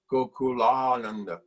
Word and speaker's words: Gokulananda: Say it like that, Gokulananda, because that's how Prabhupada said the name of Krishna, Gokulananda. The great ecstasy, and that ecstasy went all through the room. 20 devotees felt Prabhupada's ecstasy, you know, very powerful. Actually, that's the right way to pronounce, actually. See, yeah. Gokula and Ananda. So Gokulananda. That's right.